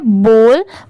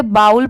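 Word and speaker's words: bowl: ये है false F ओ डब्ल्यू एल S false जैसे बी ओ डब्ल्यू एल इसे हम क्या पढ़ते हैं बॉल बहुत सारे लोग इसे बाउल पढ़ते हैं बट वो रॉन्ग होता है जैसे अगर ये बी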